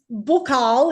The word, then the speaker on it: buccal: So buccal is how I pronounce it because I was trained in Paris. So in Paris, all we said was buccal the whole time. Australians find that, I think, frustrating and irritating when I say it like that because everyone else says buckle.